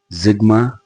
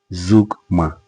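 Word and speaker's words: zeugma: So we'll be looking at litotes and Zigma or Zugma. Whether you pronounce it Zigma or you pronounce it Zugma, we'll be looking at these two devices in today's lesson.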